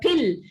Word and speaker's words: pill: length you can't have you can swallow a p can you if you if you talk to a native speaker and say in just a moment let me swallow my peel and come uh you know at five o'clock he would wonder what peel you are swallowing while you were talking about swallowing a pill he perhaps would also